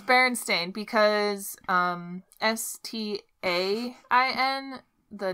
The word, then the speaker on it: Berenstain: I never know how to say it. It's Berenstain. That's, like, the real way. Yeah. But what do people think it is? Berenstain. Bernstein.